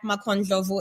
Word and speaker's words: Makho Ndlovu: media okay so on social it's uh at macon jovo and it's spelled m-a-k-h-o and last name n-d-l-o-v-u and one